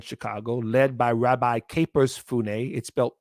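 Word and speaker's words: Funnye: The other group that is still based, their main base is there in Chicago, led by Rabbi Capers Funne. Looks like it's spelled funny, Funye.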